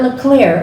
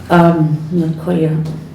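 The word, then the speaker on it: Lecuyer: Yeah, but she's saying it the way they, Yeah, it's not LeClaire, it's L-E, LaCour. I know she said you were saying it wrong. Yeah, They pronounce it different. yeah, it's L-E-C-U-Y-E-R, L-E-C-U-Y-E-R, LaCour.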